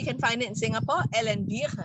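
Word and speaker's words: Elle & Vire: This cream, we can find it in Singapore, Elenbir, right? J'ai bien prononcé, c'est Elenbir.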